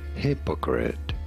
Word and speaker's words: hypocrite: Hypocrite. You do want to stress on the first syllable.